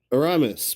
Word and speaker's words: Aramis: This question from Aramis, pronounced like like yelling, Ra, like the Egyptian sun god, and Miss, like Tom's latest theory was a real swing and a miss, asks, Tom, who is your favorite congressperson?